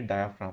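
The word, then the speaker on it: diaphragm: होगी, तो अपन बोलेंगे डायाफ्राम। तो ये जो रेड कलर की स्ट्रक्चर है इसको मैं डायाफ्राम बोल देता हूँ। ये डायाफ्राम, डायाफ्राम का ये जो जी है वो साइलेंट रहता है।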